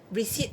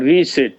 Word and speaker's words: resit: Receipt, R-E-S-I-T, receipt. Sit again, it means sit again. Or resit? Receipt, it means sit again. He's a receipt student for the... Why don't you pronounce clearly resit?